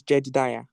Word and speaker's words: Jada: We have a question from Jada Jida. Okay. So, please can you unmute yourself? Yeah. First of all, my name is Jed Da. That's the correct pronunciation.